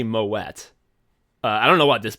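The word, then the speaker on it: Moët: like this person's name you'd think it's moay but it's actually Moet I don't know what this person calls themselves but it's m o t i want to say moette like the wine thank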